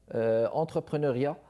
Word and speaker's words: entrepreneuriat: De retour avec vous, mesdames et messieurs, entrepreneuriat ou entrepreneuriat. Il faut bien prononcer là, entrepreneuriat, justement, pour ce qui est de valoriser les idées, de les lancer, de les vivre.